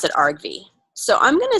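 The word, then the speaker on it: argv: process Arg V okay yeah and and we pronounce it Arg V so I'm gonna say input and process Arg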